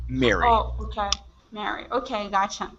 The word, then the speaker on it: Mary: We have the name Mary. We Uh-huh. have marry me, which is RRY. Ah, dang it, Yeah. RRY. Uh-huh. And then we have to be happy, which would be MERRY. All of them are pronounced exactly the same.